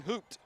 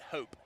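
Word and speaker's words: Haupt: got 31 31 Hayden hooped nope I was told to pronounce it hope H like you would h o p e but it's spelled h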